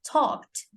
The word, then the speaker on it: talked: the end, like talk, talked. Okay, now when you're going to pronounce this also, it's a very soft D towards the end.